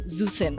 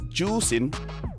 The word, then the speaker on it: Juicin: Okay, we need to have like a discussion about how to pronounce Zusin. No, it's pronounced as Juicin. Juicin. So it's not Zusin.